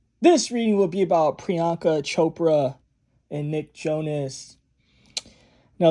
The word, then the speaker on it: Priyanka: the videos, the comment sections, you see people pronouncing her name out by spelling it. It's Jay, this is how you say it, Priyanka.